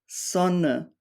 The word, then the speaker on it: Sonne: end of German words, Sonne, Lampe, Karte. So whenever you see an E at the end of a word, it's usually pronounced like a short E, or like a schwa sound in English.